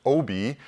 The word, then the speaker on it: Aabye: And she taught me when we met, we got married very early on that it's pronounced Obi, you know, like that guy Obi-Wan Kenobi.